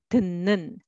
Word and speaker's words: 듣는: So let's read syllable by syllable. 듣는, but together, 듣는, 듣는.